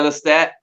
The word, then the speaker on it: Lestat: And how do you pronounce that Lee stat? ¿Cómo se dice? Yeah, Lestat.